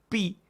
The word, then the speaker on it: pi: Después tenemos pi, que la conocemos bastante. Miren cómo se escribe y suena como la P en para.